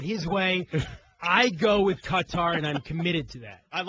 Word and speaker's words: Qatar: How do you properly pronounce that country's name? The question that Scott and I raised earlier is this Qatar mess, not Qatar, Qatar, 2022? I say Qatar.